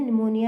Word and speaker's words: pneumonia: निमोनिया में P silent होता है और हम इसे निमोनिया ही प्रोनाउंस करते हैं।